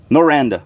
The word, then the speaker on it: Noranda: playing for people from how do you pronounce it when know Rhonda know what just say noranda Noranda Yolanda yeah exactly it's not just